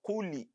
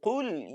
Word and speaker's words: قل: do not pronounce as kuli. Yeah, some people mistakenly put kesra in place of a sukun. So the lam is carrying sukun.